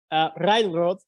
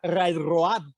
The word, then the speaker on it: Railrod: I actually had to cross the A on Railrod because phonetically in Spanish, I would love people to say Railrod instead of Railroad, because in Spanish the A sounds.